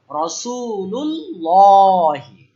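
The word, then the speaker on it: رسول الله: এই লামটা খালা এই লামটা আমরা কি বলব রাসুলুল্লাহি মাশাল্লাহ আল্লাহ রাসূ নাসরুল্লাহি নাসরুল্লাহি নাসরুল্লাহি মানে কি আল্লাহর সাহায্য মাশাল্লাহ আল্লাহ।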